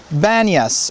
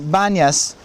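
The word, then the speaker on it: Banias: was kind of shortened almost a not quite a nickname but just maybe even a mispronunciation to the word ban yes or ban yes we saw it as we pulled in here they still call it that ban yes it's where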